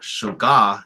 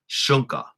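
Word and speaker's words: šúŋka: And so here you see this, it's not shuga, you know that this word here, this stress mark is on the first syllable, so it's shunka, mila, wichazo, iya, wiatke, wowapi, hunku, hihani.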